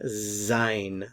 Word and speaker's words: sein: in the present tense so notice the pronunciation Zine Zine Zine to be here we